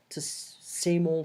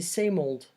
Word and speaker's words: same old: nothing has changed - same old same old so don't pronounce it like that same ol same ol I would say same old have you been well